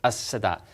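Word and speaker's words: السادات: So his name would be written with a lam, but it's as-Sadat.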